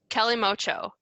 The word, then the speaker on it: Kalimotxo: It's like the Calimocho. It's spelled, ready? Kalimotxo, because Spain. Spain.